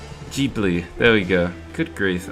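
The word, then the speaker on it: Ghibli: How do you pronounce it again? Jibli. Jibli. There we go. Good grief. I should really know how to pronounce that. Jibli.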